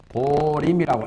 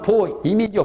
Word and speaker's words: 보림: 한자로는 보임인데 발음을 보림이라고 해요. 이렇게. 발음은 보임이죠. 보임. 보임이지만 우리 불교에서는 발음을 보림 그래요.